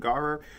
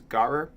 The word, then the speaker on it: gharar: And then the second topic is gharar. Sorry I'm not pronouncing it right. I was not born speaking Arabic, but if you were to pronounce it with an English dialect, that's how it is. It's Gharar.